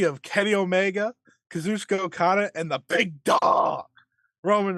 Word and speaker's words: Okada: You always got to go up Kazuchika on that Okada. second. You always got to go up on that second syllable.